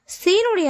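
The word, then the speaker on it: سين: அடுத்ததாக பார்க்கக்கூடிய எழுத்து சீன் சீனுடைய மகர பிறப்பிடம் ஜா என்ற எழுத்துடைய மகரஜ் பிறப்பிடம் மாதிரியே கீழ் பற்களின் நடுவில் அதோட ஓரங்களை தொடும்போது சீனுடைய உச்சரிப்பு வந்து பிறக்கப்படுகிறது சீன் சீன் அடுத்ததாக பார்க்கக்கூடிய எழுத்து ஷீன்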